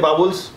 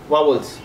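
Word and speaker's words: vowels: India में कई लोग कैपरेक्टर बोलते हैं, प्रोनाउंसिएशन, प्रोनाउंसिएशन। ठीक है, तो इस तरह के वावल्स को भी कोई लोग बोलते हैं बाबुल्स, कोई लोग बोलते हैं वावल्स, कोई लोग बोलते हैं वावल्स।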